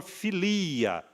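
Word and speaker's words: φιλία: primeira palavra é o amor filia é exatamente essa a a pronúncia né É aquele amor da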